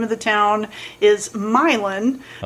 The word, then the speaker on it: Milan: Um the name of the town is Milin. Oh. Uh but it's spelled like Milan.